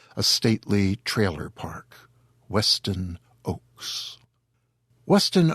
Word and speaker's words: Ochse: o c HS e it is pronounced like the trees Oaks and together with his first name he says he sounds like a stately Trailer Park Weston Oaks Weston Oaks lives in the Arizona